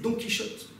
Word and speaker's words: Don Quichotte: le savez, puisque aujourd'hui, le fameux Don Quijote se prononce en français Don Quichotte, puisque nous avons récupéré ce conte populaire à une époque où le son se prononçait différemment.